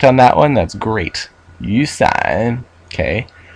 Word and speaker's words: 雨伞: Yusan. Okay. Pronounce the second tone really is third tone, then third tone.